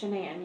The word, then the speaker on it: Shanann: All right, so I understand that you are pretty good friends with, is it Shannon or Shanann? It's Shanann. You pronounce it like shenanigans.